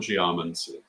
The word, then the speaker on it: geomancy: A lot of the languages that English takes words from would give you the pronunciation geomancy, because putting the accent on that second to last syllable is the case from some languages, but not from Greek.